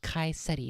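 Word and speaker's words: Chi Ceti: Sigma Octantis 4 has Kai Seti is how it's supposed to be pronounced. Kai, huh? Kai Seti 4. Kai Seti 4. Chi Seti.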